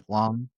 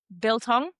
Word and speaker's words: biltong: Feel- Bitlong. It's like the South African beef jerky. Oh yeah, you said that so wrong, but I'll What is forgive it? you. How do you say it? Biltong, Biltong.